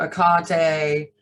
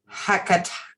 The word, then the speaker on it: Hecate: Like Akate is the Greek spelling without the H. Hecate is the American version of it.